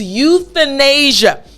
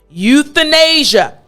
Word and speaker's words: euthanasia: very long word but i want to go over the th portion euthanasia now in order for you to make the th sound properly what you need to remember is to put your tongue through your teeth this is the key